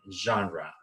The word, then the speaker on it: genre: genre what is genre genre is a French word and we pronounce Chandra so genre mystic is